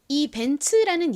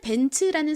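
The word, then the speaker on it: Benz: 벤츠라는 이름이 독일어인 거죠 그래서 영어식으로 읽는 것이 아니라 독일어로 독일식으로 읽다 보니 이가 지소리 즈 소리로 발음 나는 것이 아니라 츠츠 소리로 발음이 난 겁니다 전에도 제가 여러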